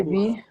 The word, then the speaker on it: bus: Le bus. Le bus. C'est Le ça, on va bus.